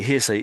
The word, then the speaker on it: hearsay: So hearsay is basically hearsay, not that's heresy. Forsay.